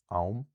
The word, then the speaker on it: am: So, um if we can imagine the words aum, time, and eem, butter, they have other forms, auma, which means of time, and ima, which means of butter. So, because we've added that second vowel, there's a vowel coming after what would have given us the length, and now there's no length at all.